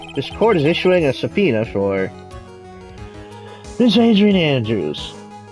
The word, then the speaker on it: subpoena: Yeah, it's not subpoena. It's subpoena. Hey, don't look at me, I don't know. I just know how it's pronounced.